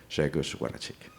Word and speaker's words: Grzegorz Wlodarczyk: Please welcome Grzegorz Wlodarczyk. Thank you, Marco, for your introduction. Excellent pronunciation of my name.